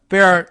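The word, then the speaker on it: Bexar: the Bayer Texas uh Bear County Texas and I've learned the pronunciation now of b-e-x-a-r Bayer and they just kind of say bear basically Bear County Texas Sheriff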